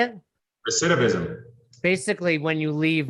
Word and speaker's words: recidivism: Recidivism. Recidivism. How do you say it? Recidivism.